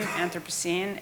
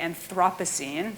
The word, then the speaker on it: Anthropocene: So you pronounce it correctly if you're an American, Anthropocene. If you're a Brit, you would say Anthropocene. So there's a sort of tomato thing there going on there.